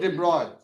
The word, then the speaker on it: de Broglie: That spells like this. Pronounced de Broglie.